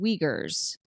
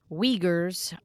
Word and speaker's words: Uyghur: You're not allowed to use those labor practices because the workers there are called Uyghurs, which is spelled Uyghur.